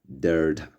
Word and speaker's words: delta: And the next is delta, which sounds like D in dog.